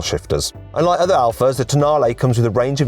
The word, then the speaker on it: Tonale: This is the new Alfa Romeo Tonale. Yes, I know it looks like it's pronounced toenail, but it isn't, okay? I checked with some Italians.